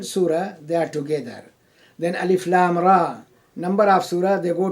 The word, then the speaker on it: Alif Lam Ra: of the book, that Alif, Lam, Ra, and they are to be pronounced separately. It is not to be combined.